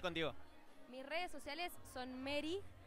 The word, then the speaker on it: Meri: Mis redes sociales son Mary, con E y con I latina, que se escribe, D-E-A-L.